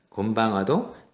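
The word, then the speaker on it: こんばんは: 곤방와도 5박자. 하나, 둘, 셋, 넷, 5. 글자 수를 세면 된다 그랬죠. 자, 근데 여러분들은 가끔가다 고니찌와, 곤방와 이렇게 4박자로 발음하는 사람이 있어요. 고니찌와, 곤방와 그거보다는 자, 하나, 둘, 셋, 넷, 5. 5박자가 똑같은 시간의 길이를 가져야 되니까 건니찌와, 곤방와 자, 이렇게 시간의 길이를 딱딱 맞춰서 발음을 하실 필요가 있겠습니다.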